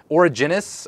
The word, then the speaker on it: Origenes: I don't know how you pronounce it. It's the Origins is what it means, yep. But it's Origenes. Origenes.